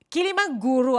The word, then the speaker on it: Kiligmanguru: somewhere somehow Kilala niyo si doc kilim jaru kilim Guru Actually is did I pronounce it correctly yeah that's right kilim Guru